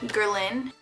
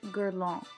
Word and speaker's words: Guerlain: weeks ago and there is this brand called girl in it's actually pronounced girl all and it's a European brand so it's a